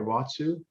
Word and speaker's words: watsu: well as reflexology and she is a certified watsu did i say that right watsu you did yeah all right practitioner and certified